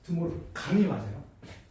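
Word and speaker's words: De Morgan: 드모르강이 맞아요.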